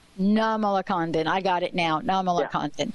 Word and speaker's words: Nirmalakandan: So it's Nirmalakandan. Nirmalakandan.